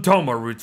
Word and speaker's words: Toma Root: tomato tomato it don't really matter how you say it says don't starve together here bloody calls them doma roots for pete's sake so that's what we're gonna go with from here on out folks these